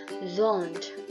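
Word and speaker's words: Sohn: Nah, S ini dia untuk pelafalannya berbeda dengan Indonesia, di mana S dalam bahasa Jerman itu dibaca antara S dan Z. Jadi S-nya hanya samar, jadi seperti Z.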